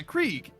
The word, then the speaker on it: Krieg: You're like, yeah, Krieg. You know, rhymes with Creed.